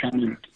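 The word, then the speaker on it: Chanute: And it's pronounced Chah-noot.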